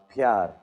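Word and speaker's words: प्यार: Uh pyar.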